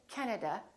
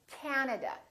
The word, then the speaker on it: Canada: This time, the first syllable is stressed. This time, this a is really long. So, don't say Canada, say Canada. Canada.